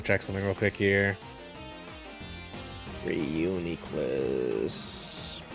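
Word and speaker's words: Reuniclus: Reunicless the name I learned how to pronounce a little bit recently be yeah that's probably say like that a little bit instead of reunul like what is that but either way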